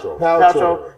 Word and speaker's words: Paltrow: How do you pronounce her name? I forgot it. Paltrow.